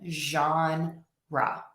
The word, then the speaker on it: genre: So it's not a G and it's not a J. It's a So that is definitely an exception. Jean Ra.